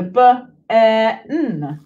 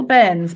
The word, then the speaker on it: bairn: So b-a-i-r-n, bairn, which is like, I think it's a Scottish term for a little one. My little bairns, my children.